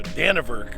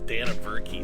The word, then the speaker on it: Dannebrog: on the radar and trying to pronounce it you know danavurk or something like that but then i had a friend of mine tell me it was dana berkey so anyway kind of